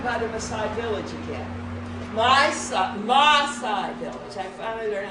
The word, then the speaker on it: Maasai: Maasai village. I finally learned how to pronounce it.